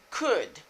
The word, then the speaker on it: could: L là, the letter L is silent. L qui n'a deux ça yo, li muette. On dit c'est could.